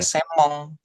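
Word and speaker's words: 専門: Nah, di sini senmong tapi kalau kita baca gitu, kita speak gitu kan itu bacanya semong. Nah, seperti itu. Jadi kayak N-nya enggak kebaca justru kayak M-nya doble jadinya semong.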